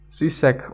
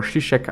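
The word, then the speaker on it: Žižek: for core we're having zisek or shishek i guess it's pronounced anyway in cultural studies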